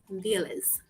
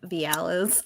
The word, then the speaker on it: Vialise: I mean, I said Vialise because in Spanish it's Lise, like Lisbeth or Elizabeth. But that's because it's a Spanish last name, Puerto Rican.